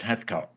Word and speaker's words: Heathcote: Spelled Heathcote, but it's pronounced Heathcote.